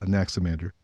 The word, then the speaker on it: Anaximander: as it were okay the emphasis is on the second symbol anaximander and then anemones is